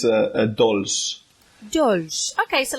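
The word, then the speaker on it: dolç: that so it's a dolls okay so like don't say so a little bit almost italian yeah dolls that's nice to finish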